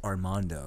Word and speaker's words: Armando: It's pronounced Armando.